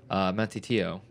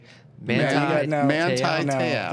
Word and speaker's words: Manti Te'o: Manti Te'o.